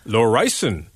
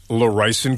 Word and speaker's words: Laurysen: Or Laurysen. Yes. How's my Dutch? That's also very good. Thank you. Yeah. Laurysen, of course, as in Lorrison Kitchens, Carp Road.